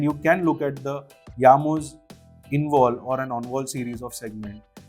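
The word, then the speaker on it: Jamo: It spells as J A M O but since it's a Scandinavian brand they pronounce it as Yamo.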